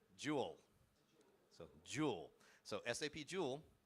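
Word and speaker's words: Joule: What do we call the SAP LLM interface? Is it Julle? Jew J. Yeah. So, Jewel.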